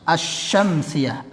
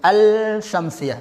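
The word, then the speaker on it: الشمسية: Kemudian alif lam syamsiyah itu adalah cara membacanya seperti membaca asy-syamsiyah. Lamnya enggak dibaca, bukan al-syamsiyah, salah. Ya, seperti itu.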